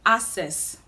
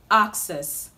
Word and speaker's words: access: start with this word this word is commonly pronounced assess but the right way to pronounce this word is access access access we have a k k sound